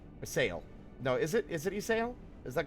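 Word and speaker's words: Ysayle: Isail. I keep forgetting that the Y is not, is like, yeah, Isail.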